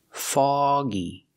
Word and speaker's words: foggy: don't use the uh sound like cup and up we use the a sound like call ball log and dog a a the sound is back here fog foggy it will become foggy